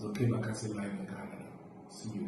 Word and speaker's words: Okey Bakassi: Yeah, let's spend Thanksgiving over there with Okey Bakassi. I think I pronounced it properly.